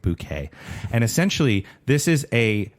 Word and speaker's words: Bucket: Her name is Bucket, but she insists on everybody pronouncing it Bouquet.